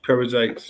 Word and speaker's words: Perizzites: the Amorites, and the Perizzites, how would you pronounce it? Perizzites.